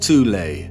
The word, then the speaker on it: Thule: secret society within germany called the thol society sometimes alternatively pronounced tule that had sub-factions within